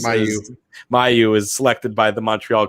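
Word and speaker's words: Mailloux: dave it's hard to add one number in any event uh logan uh whatever as he just pronounced his last name as mayu is selected by the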